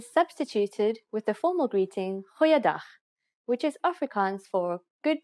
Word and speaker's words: goeiedag: Goeiedag, ek is Anne-Marie Luck. Aangename kennis. Let's try that again. G. Try pronouncing it from the back of your throat. Goeiedag, goeiedag, ek is Anne-Marie Luck.